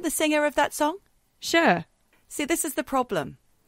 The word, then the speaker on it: Cher: really good friend of mine whose name is sure it's spelled c-h-e-r and she's known as sure and I'm wondering if it's because in Australia